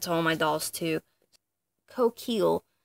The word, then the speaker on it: Coquille: Coquille, I believe is how it's pronounced. It's the French word for shell, and it's part of the words that make up Rococo.